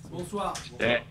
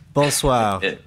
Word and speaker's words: bonsoir: Bonsoir. Bonsoir. Bonsoir, okay.